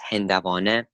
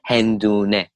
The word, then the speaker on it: هندوانه: Actually, for هندوانه and watermelon, the way that you're meant to pronounce it properly is هندوانه. Over the course of time, it's been changed though, and the way it's pronounced today, many of Persian speakers, Farsi speakers say hendune, watermelon. The general way is هندوانه, but the way it's used today, you'd say hendune.